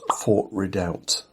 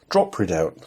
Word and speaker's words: Drop Redoubt: Travels, and it was Fort Redoubt, or Port Redoubt, Drop Redoubt. I was getting the name wrong.